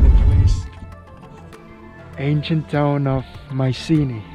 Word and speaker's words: Mycenae: police ancient town of mycenae i think that's how it's pronounced in english in greek it should be meekness sadly it's closed we